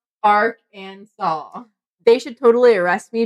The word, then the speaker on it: Arkansas: so bad all right Arkansas must be pronounced Arc and saw they should totally arrest